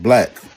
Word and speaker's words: Blac: D Bl B L A C is not pronounced Blake. It's pronounced black.